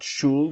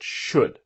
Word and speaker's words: should: I should do now remember should the L is silent not shul but should what do you think